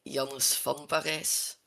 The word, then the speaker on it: Janus van Parijs: Well, in Dutch we say Janus van Parijs.